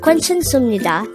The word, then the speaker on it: 괜찮습니다: divided into five syllables the first two syllables are is formed from the combination of the sounds but take note that the sound way is formed from combining the sounds of o so it's like which gives up the whey sound the next syllable is